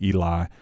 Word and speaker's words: Ely: Today I've got a special guest on the program with us, Ely. Is that pronounced correct? That is correct. Ely, I got it right this time.